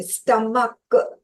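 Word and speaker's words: stomach: तो जब च प्रोनाउंसिएशन आता है सी एच वाले में तो ई एस लगाते हो, मगर जब क प्रोनाउंसिएशन आता है सी एच में, स्टमक, तो आप सिर्फ एस लगाओगे, ई एस नहीं लगाओगे।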